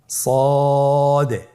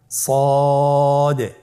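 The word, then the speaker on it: ص: তাহলে আপনারা জিহ্বার আগা, সামনের নিচের 2 দাঁতের পেট ও আগার সঙ্গে লাগিয়ে উচ্চারণ করুন সদে। আবার বলুন সদে।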